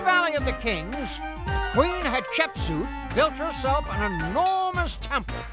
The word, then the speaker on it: Hatshepsut: It was Queen Hatshepsut. And if you say her name quick enough, it kind of sounds like hot chicken soup.